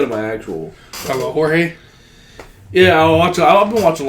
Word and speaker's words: Jorge: of Blame It on Jorge. I'm not honestly not. I think he's. For the longest time I thought it was George, right. And then I realized it was spelled with a J.